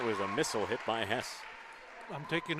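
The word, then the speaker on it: Hesse: And I'm going with Hess for any RTR Night fans listening in. I worked with a guy who spelt the same, H-E-S-S-E, and pronounced it Hess, so that's what I'm going with.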